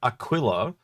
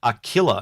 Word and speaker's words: Aquila: a lot of America we call it Aquila because it's like a quill like a pen and they call it that they the Americans have a very unique pronunciation of and so um it's like the the ship the Aquila they perhaps it a killer and when I hear